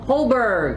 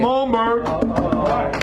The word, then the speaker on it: Holmberg: Up next, Tom Holberg. Sorry, Holmberg. Holmberg.